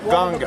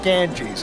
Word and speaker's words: Ganga: at a famous river this is the river ganga or as we mispronounce it the ganges a 1400 mile long